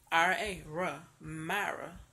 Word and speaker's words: Myra: not hard to pronounce, just break it down, Myra, that's it, they put eyes in there that ain't got no business in there, Like, it's so complicated.